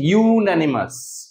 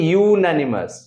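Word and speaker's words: unanimous: একচু এর উচ্চারণটা হচ্ছে ইউনানিমাস এর উচ্চারণটা হচ্ছে ইউনানিমাস তাহলে যখন আমরা ইউ পাচ্ছি তাহলে ডেফিনেটলি তার আগে এ ইউজ করব কেমন এগুলো প্রত্যেক কটাকে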